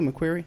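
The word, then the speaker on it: McQueary: But the question I have in my head that I can't get around, okay, is this guy McQuarrie. Am I pronouncing that correctly, McQuarrie?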